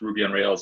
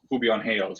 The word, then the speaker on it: Ruby on Rails: so some we teach people like how to pronounce ruby on rails and python and php without an accent like there's a lot of people who say they like um who'll be on hails right like uh did they speak spanish or